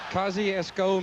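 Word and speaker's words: Kosciusko: How did you pronounce that town he's from, Butch? Kosciuszko, Mississippi.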